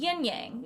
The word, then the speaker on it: yin-yang: that clip also utilized the yinyang which I'll be pronouncing the Standard English way and that's because the